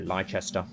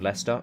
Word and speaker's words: Leicester: let's march on to lychester it's always reminds me of the way that americans say uh pronounce my home city of leicester uh my prisoner cora